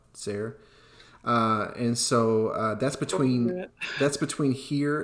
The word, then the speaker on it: Tser: It's spelled Tser, Sayre.